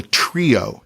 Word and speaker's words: Treo: who shave others the razor is called the trio now it's spelled Treo and while Gillette estimates